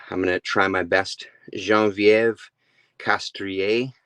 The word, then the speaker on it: Geneviève Castrée: gonna try my best jean-vieve castria I believe is how you pronounce it I was looking on